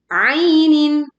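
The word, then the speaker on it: عَيْنٍ: Min ainin ainin dibaca ee dengan lembut, ya lin tidak dibaca a tetapi ain ainah kita baca kasrah tanwin dengan jelas kemudian hamzah juga dengan jelas sehingga ketika kita membaca ainin itu tidak bergetar.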